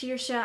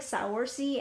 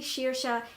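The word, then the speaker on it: Saoirse: name incorrect your entire time because it is pronounced sheersha I know it looks like sour C and I've been calling her sour C for a very long time but it's actually sheersha and her name is also very Irish in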